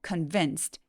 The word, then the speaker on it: convinced: dad 아빠를 설득했다고 하죠 convinced 강세는 이음 절에 오기 때문에 꼭 convinced convinced라고 또렷하게 소리를 꼭 내주세요 자 납득시켰다 설득했다는 표현이고